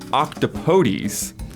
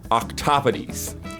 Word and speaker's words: octopodes: I said octopodes, and Isla said octopodes. But if you're going for that weird word, the actual pronunciation is basically octopodes.